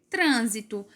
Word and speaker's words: trânsito: O próximo exemplo que eu trouxe é trânsito. Trânsito. Trânsito. A sílaba mais forte é o trã.